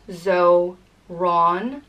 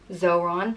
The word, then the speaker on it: Zorán: The next name is Zorán, and is pronounced Zorán, Zorán, and it has a fada over the A.